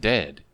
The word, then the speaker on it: dead: and sounds like bird and dead it's said like bed not bead and goodness's sake don't call it deed watch out for meat